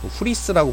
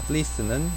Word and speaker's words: fleece: 후리스라고 보통 이제 옷감 중에 하나죠. 양털. 약간 그건 일본식 발음이고 플리스는 눈의 뭉침 비유하는 표현인 것 같습니다.